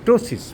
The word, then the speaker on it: ptosis: এস আই এস ইংরেজিতে পি এর উচ্চারণ হয় না টোসিস এই টোসিসে উপরের আইলিড